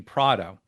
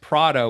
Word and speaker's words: Prato: Something that I've never shared is I believe the correct pronunciation of my last name is actually Prato, because it was Prato. it's from I think a town in Italy, which my great grandparents came from or something like that.